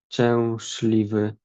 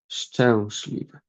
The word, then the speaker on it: szczęśliwy: So we have like w, szliwy, szczęśliwy, szczęśliwy.